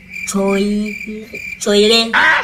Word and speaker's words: choir: There's CH there. For the sake of that word, the CH is pronounced as k. The CH is like k.